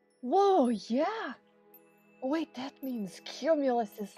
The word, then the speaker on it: cumulus: Wait, that means cumulus is like... Wait, is the C like a soft C or a hard C?